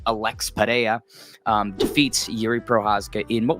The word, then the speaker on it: Pereira: Alex, or as a lot of people say, the correct pronunciation, Alex Pereira, defeats Yuri Prochazka in what was a shorter notice main event for both guys.